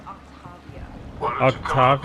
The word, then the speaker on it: Octavia: That's an impressive barrier, Octavia. Our file says you've been working on shield technology. It's a handheld multi-core solution based on cyclonic barrier technology, Jackal. And it's pronounced Octavia.